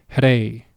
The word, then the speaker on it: rey: Okay, notice the sound that I make when I pronounce that word, rey.